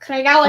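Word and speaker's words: Craigellachie: Craig Ellicky. Craig Ellicky. Yep, Craig Ellicky.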